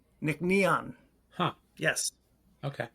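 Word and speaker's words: Nc'nean: They have a pronunciation for you. It is Nickon. Nick Neon. Nickneon.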